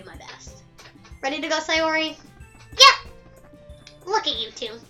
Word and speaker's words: Sayori: Sorry, Sayori.